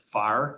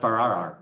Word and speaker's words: Farrar: Yep, but the A-R is silent. So it's just Farr, not Farrar. No, just No, Farr. it's not like starting a car.